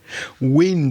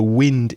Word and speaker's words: wind: eye t-e-a-r-t t-e-a-r terror wind is the endo it's a windy day the wind is blowing but there's another pronunciation to that word and it changes the meaning wind means to turn